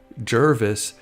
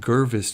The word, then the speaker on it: Jervis: And then his last name, Jervis, was being mispronounced Gervis too many times, so he went ahead and changed it to Ward, which was his mother's maiden name.